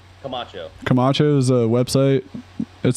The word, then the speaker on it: Camacho: own page uh how do you say your last name camacho camacho's a website it